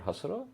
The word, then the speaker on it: Hasura: I'm the CEO co-founder of a company called Hasura.